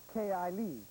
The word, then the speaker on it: Kelly: Anyway, Kelly is pronounced Kai-I Lee. Oh, sorry. K-I Lee. K-I Lee.